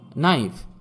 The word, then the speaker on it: knife: Silent কে, যেমন নাইফ, KNIFE, এখানে কে এর উচ্চারণ হবে না।